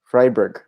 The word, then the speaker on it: Freiburg: do you say this one Ryberg or freiburg freiburg freiburg right okay yep I thought and then